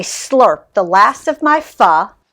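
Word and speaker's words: phở: the last of my f rhymes with duh from the bowl like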